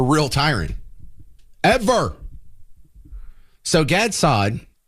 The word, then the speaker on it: Saad: So Gad Saad, I think he pronounces sad, actually. It just is S-A-A-D.